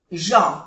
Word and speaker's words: gens: Aquí tenemos otra vocal nasal, EN, en, gens, que no se pronuncia la S, que es de plural, pero no se pronuncia.